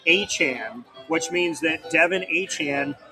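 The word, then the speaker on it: Etienne: His last name ETN is supposed to be pronounced Achan, which means that Devin Han and Travis Han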